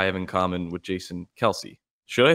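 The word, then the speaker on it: Kelce: something that i have in common with jason kelsey should i say kelsey it's actually pronounced kels but apparently growing up his dad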